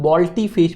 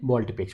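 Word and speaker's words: volte-face: इसे एग्जैक्टली अगर मैं बात करूँ प्रोनाउंसिएशन के फॉर्म में तो वो होता है बॉल्टी फेस बोलते हैं इसे। क्या बोलते हैं? बॉल्टी फेस।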